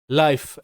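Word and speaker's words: life: লাই, এফ তে ফ লাইফ, এল আই এফ ই লাইফ, তো এখানেও শব্দের শেষে ই সাইলেন্ট।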